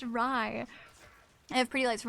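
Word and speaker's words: Rei: It was It's R EI, but it's pronounced Ry.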